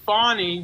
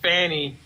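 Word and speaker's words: Fani: am but I know with fonnie Willis I got problems with her don't worry but her name is her name and I think people did do it on purpose and said Fanny is to make fun of her and that's not right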